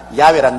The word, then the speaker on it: 야훼: 왜냐하면 원래 일을 행하시는 여호와, 그 일을 지어 성취하는 야훼 하나님이신데, 야훼라 해도 좋고 여호와라 해도 좋습니다. 그러나 야훼란 말이 더 정확한 발음입니다.